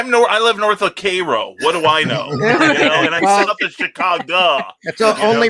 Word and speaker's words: Cairo: in the state is c-a-i-r-o but it's pronounced like the syrup cairo or instead of cairo